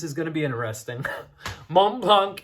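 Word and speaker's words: Montblanc: oh boy this is going to be interesting mont blanc individual we don't pronounce the c the the next one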